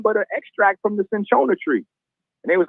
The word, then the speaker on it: cinchona: How you spell that? CINCHONA, cinchona bark.